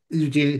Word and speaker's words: Eugenie: Now take Princess Beatrice and Princess Eugenie. uh Eugenie.